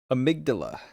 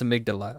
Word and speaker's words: amygdala: No, we have emotions to go alongside of it in our amig amig amigdala. I was performatively mispronouncing it. I know how to pronounce amygdala.